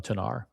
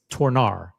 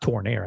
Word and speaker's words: Tornare: Like, I'm not 100% sure how to pronounce it either either. But I think it's Tornare. It's t o r n a r e. Uh Uh, I don't think I don't think you pronounce it Tornair. It's It's not Tornair. I think it's Tornar. And you add a little bit of like a little bit of French, you know, Tornar.